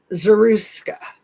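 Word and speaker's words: Zarutska: Zaruska, Irina Zaruska, that beautiful woman.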